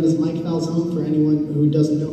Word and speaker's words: Falzone: My last name is Falzone, which rhymes with? Calzone.